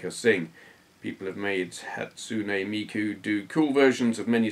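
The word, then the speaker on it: Hatsune Miku: are your opinions on hatsui Miku hey I pronounced it no almost right hatsun Miku if you're not familiar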